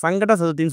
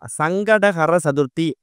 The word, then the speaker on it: சங்கடஹர சதுர்த்தி: முதல்ல இந்த சங்கடகர சதுர்த்தி அப்படிங்கிறத நம்ம சரியா உச்சரிக்கணும். நிறைய பேர் மொட்டையா சங்கட சதுர்த்தின்னு சொல்றாங்க. அப்படி சொல்லும் போது உங்களுக்கு சங்கடங்கள் தான் வந்து சேரும். முழுமையா சங்கடகர சதுர்த்தி அப்படிங்கிறத முழுமையா உச்சரிச்சாலே நம்மளோட பாதி சங்கடங்கள் விலகி ஓடிடும்.